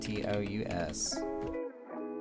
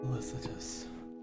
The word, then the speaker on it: felicitous: Pronounce Felicitous. Felicitous.